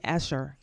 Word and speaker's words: Escher: And then we have Escher. Escher.